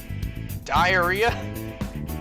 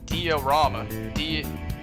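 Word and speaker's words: Diarama: Diarrhea? No, that's not. I'm joking. It's pronounced diorama.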